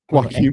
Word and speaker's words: Joaquin: Is that how you say his name? Yep. Sounds like something I get on my burrito. Joaquin Can I have extra Joaquin, please?